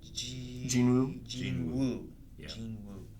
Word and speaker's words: Jinwoo: Jinwoo.